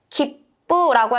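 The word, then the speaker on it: 切符: 푸라고 읽지 않고 뿌라고 읽어 주셔야 돼요.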